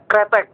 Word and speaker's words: kretek: Oh yeah, these words, we read this as kretek, not critic.